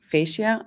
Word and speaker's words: fascia: always say about um the F fascia that's this is how how you pronounce in English that it holds the